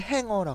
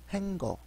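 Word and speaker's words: hanger: 그 다음에 이제 옷걸이를 행어라 그러죠. 행거 한국 발음이고 행어.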